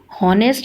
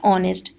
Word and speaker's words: honest: Spelling तो है HONEST, लेकिन जब हम इसको प्रोनाउंस करते हैं तो इसमें जो एच है आपका, जो एच है वो साइलेंट है, इसको हम हॉनेस्ट नहीं पढ़ते, इसको हम क्या पढ़ते हैं, ऑनेस्ट।